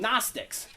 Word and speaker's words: Gnostics: So they were called Gnostics. And when you write it, there's a G in front of that. That's because it comes from gnosis.